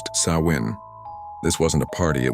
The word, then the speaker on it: Samhain: They celebrated a festival called Sam Hine, pronounced Sawin.